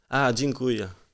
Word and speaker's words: Dziękuję: Dziękuję.